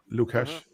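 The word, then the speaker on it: LukHash: on YouTube it it it's spelled l-u-k and then hash lucash he has done some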